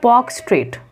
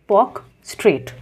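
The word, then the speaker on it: Palk Strait: हम लोग बोलते हैं पॉक स्ट्रेट एल साइलेंट होता है basically most of the times P ए एल के पॉक स्ट्रेट ओके और उसके बाद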